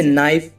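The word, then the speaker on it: knife: ऐसे ही और भी एग्जांपल है गाइस जैसे नाइफ नाइफ माने चाकू नॉक नॉक माने खटखटाना नाइट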